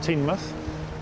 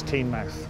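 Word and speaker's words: Teignmouth: if you're a local they usually call it teen month but if you're officially its teen max okay and misses the place for Loula came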